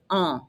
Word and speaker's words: ans: Répétez, j'ai 14 ans. The word for years, don't pronounce the S, and the AN is an an.